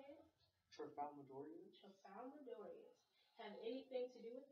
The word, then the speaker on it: Tralfamadorians: Tralfamadorians.